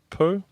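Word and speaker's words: Pau: P A U Po.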